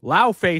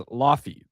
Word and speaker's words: Laufey: First off, they're pronouncing it wrong. Lao Fei sounds Chinese as hell. Like Lao, no, it's if we're sticking to Norse mythology, she's depicted as Laufey because she is an ice giant.